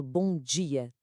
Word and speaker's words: bom dia: No Brasil, este D, quando vem antes da vogal i, transforma-se. Ganha um som chiado, um J, muito parecido com o som do J em inglês na palavra jeans. O resultado é aquele bom dia, tão melódico e característico. Já em Portugal, o D é mais clássico, mais contido, mantém o som duro, dental.